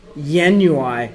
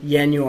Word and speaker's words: ianuae: time with magic dot Yin UI which is how you say that word Yin Yue is kind of like January it's a it's a